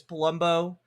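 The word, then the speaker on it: Polumbo: Uh because I was talking about Brad Palumbo who I I've been informed I his name is Palumbo but when I say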